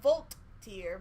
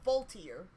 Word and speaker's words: Voltaire: Not Voltaire, but Voltaire. Despite what it's spelled like.